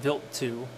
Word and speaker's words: Wild 2: above images of comet wild 2 or pronounced built to on January 2nd 2004